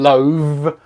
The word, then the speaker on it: loathe: the fish and chips so this is Loaf and this is love slightly different pronunciation loathe loaf I was loathe to